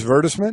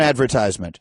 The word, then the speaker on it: advertisement: just as an aside I like that pronunciation at virtus miss verda sment as opposed to an advertisement okay the guys are